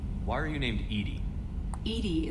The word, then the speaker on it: EDI: are you named Edie Edie is the phonetic pronunciation of EDI that is an acronym for enhanced defense intelligence location where are you